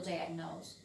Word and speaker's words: diagnose: Pero acá, si yo le saco la ed, sigue sonando diagnose y tiene cierta sonoridad y cierto sentido. Pero es un verbo que termina con la e, aunque no se pronuncia al final.